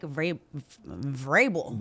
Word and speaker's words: Vrabel: The big news in the NFL yesterday was the Titans firing Mike Vrabel. That's right. Yeah, I said it right. That V is there for no reason.